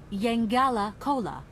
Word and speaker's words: Yangala Cola: The right pronunciation is Yangala Cola.